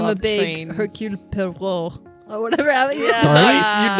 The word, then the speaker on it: Poirot: There's a way they say it in the movie that was like, like oh, Pierrot. that's how you say it. Oh yeah, Pierrot. Pierrot. I don't know. Pierrot or Clearly we're something not like French. that. Pierrot. Yes, Poirot.